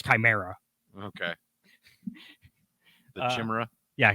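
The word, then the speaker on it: Chimaera: original one because the original one couldn't even pronounce chimera okay the chimera yeah chamera or something like that is how they were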